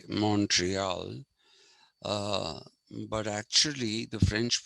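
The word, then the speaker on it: Montréal: that's the french pronunciation and montreal we say montreal the americans say montreal but actually the french pronunciation of that was morale okay uh that is the actual pronunciation of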